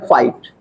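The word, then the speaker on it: fight: एफ आई जी एचटी तो क्या हो गया फाइट फाइट मीस लड़ना ठीक है एट मीस आर्ट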